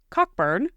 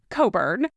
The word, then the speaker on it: Cockburn: So, we said cockburn, but we learned just days after that episode came out that it's actually pronounced cobburn. Yep. And and probably that's, you know, we're not even quite getting that completely accurate, but it's definitely not cockburn.